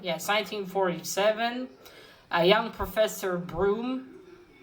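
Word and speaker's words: Bruttenholm: 1947 a young professor broome his name is written differently but i heard that you're supposed to pronounce his broom i think i'm not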